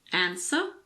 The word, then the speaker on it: answer: There are also a few random words with a silent W. Some common ones are answer, sword, and two, the number 2.